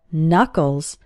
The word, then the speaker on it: knuckles: your hand are called knuckles the first K in this word is silent and if you hold